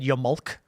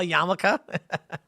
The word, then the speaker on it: yarmulke: I remember one time, 8 years ago, I said Yamulk because I didn't know how to spell yarmulke.